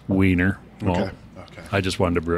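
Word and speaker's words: Wiener: lager using uh vienna malt or as it's pronounced weiner i just wanted to brew it because it's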